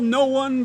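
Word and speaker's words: Noone: It's spelled no one, but it's Noon somewhere.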